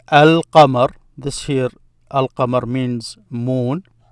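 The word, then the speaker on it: القمر: So you will hear me say al-qamar. This here, al-qamar means moon. The moon. By saying al, I'm meaning it becomes the moon. So the moon, al-qamar, the moon.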